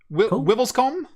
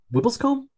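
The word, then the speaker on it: Wiveliscombe: o m b e is that comb wibles comb wibbles comb wblc that sounds better than WI come yeah to be to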